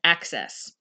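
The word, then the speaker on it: AHCCCS: care cost containment system or ah CC ccs and we pronounce that as access the mchp known as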